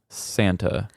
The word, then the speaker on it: Zanto: Yeah, and just so people know, his name is spelled Zanto, but from what I understood from Hella, it's another one of those where I'm pretty sure I'm getting the pronunciation correctly, but I'm pretty sure it said Santa.